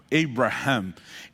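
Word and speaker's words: Abraham: é por isso que em outras línguas como o inglês né não se fala Abrahão dois a falar Ei Ramp essa pronúncia esse fonema mudou completamente o significado do nome e Deus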